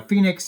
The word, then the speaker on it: PHNIX: the Phoenix token Now Phoenix is spelled pH niix and that is the name and the ticker symbol